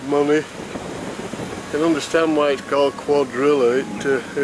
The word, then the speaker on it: Cuadrilla: and understand white car Cuadrilla - it rhymes with Godzilla king of the monsters